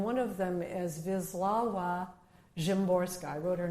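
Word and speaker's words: Szymborska: poets, uh, and one of them is Vizlawa Jimorska.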